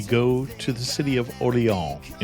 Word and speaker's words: Orléans: And I'm going to call it Orléans cuz that's the closest I can get to the real pronunciation, but it's old Orléans.